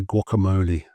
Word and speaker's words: guacamole: Now, here's one we just stolen straight from another language. I believe it's Spanish. We say guacamole.